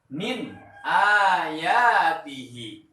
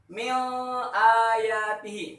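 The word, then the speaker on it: من آياته: Ketika ada nun sukun bertemu dengan hamzah, maka bacaannya harus jelas, harus terang. Contoh, min ayatihi. Nah, bacaan yang benar seperti itu. Min ayatihi. Jangan dibaca seperti ini. Mil ayatihi. Salah.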